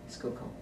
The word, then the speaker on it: Schuylkill: And then, you've answered this, but can you pronounce... Schuylkill.